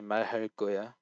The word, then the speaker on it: 말할 거야: When the kiek is followed by a lir, it will become tensed. So 말할 거야, and also just before that, he.